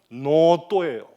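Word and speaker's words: ノート: 발하는구나 칠판이 없어 유감입니다 그런데 일본어로 노트를 적으면 어떻게 됩니까 가닥 하나로 요렇게 하고 하픈을 긋고 요렇게 해요 읽으면 노또예요 그럼 여러분 노라고 발음하면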